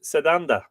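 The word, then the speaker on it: Sétanta: told me today that Satanta should be pronounced Seda uh Brendon burn is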